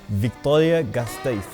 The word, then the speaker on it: Vitoria-Gasteiz: And this is the real pronunciation, Vitoria-Gasteiz. So we've actually just been told that even what I just said is wrong. It's actually Vitoria-Gasteiz.